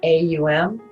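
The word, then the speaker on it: Om: down you choose to ohm today please put your hands together thumbs against your heart we're going to pronounce it AUM o close your eyes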